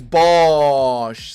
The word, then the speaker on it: Bosch: No, it's Bosch. Someone spell it for my brother, probably.